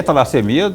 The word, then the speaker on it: talassemia: O que é talassemia? Eu pronunciei certo? Perfeito, talassemia.